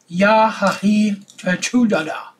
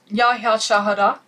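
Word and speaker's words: Ya hya chouhada: Yahahi Chachudada. What the hell? Pronounce it. Say it. Yahya Shahada.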